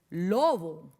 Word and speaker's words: lobo: una acentuación, es decir, hay una sílaba que se pronuncia con mayor intensidad o con mayor fuerza. Por ejemplo, en lobo, lobo. Bo. Y miren que no tiene tilde, pero está acentuada, se llama la sílaba tónica.